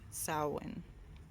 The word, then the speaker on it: Samhain: word and spelt like Samhain but it is pronounced salen it is celebrated October 31st through November first